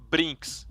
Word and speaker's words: brinks: Brinks. Oh, brinks. It's Sorry. really like the word brink, but with an S at the end.